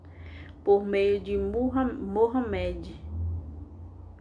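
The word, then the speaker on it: Muhammad: 7 por meio de muhammed e eu acho que assim se pronuncia me perdoe se tiver errado que é conhecida em português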